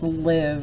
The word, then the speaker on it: live: breaks spelling rules okay I would think this word was alive okay but it's live it sounds like it belongs in this category right here you just